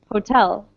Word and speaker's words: hotel: the second one right you can hear the difference if we put the stress on the first syllable it would sound like hotel but we say hotel hotel hotel okay uh temple poll